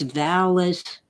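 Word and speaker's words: VALIS: and by the way it is not they list its vowless vast active living intelligence system so it's a short a as in active vallus helped many people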